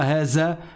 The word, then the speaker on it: هذا: Haza, the, comme le the en anglais.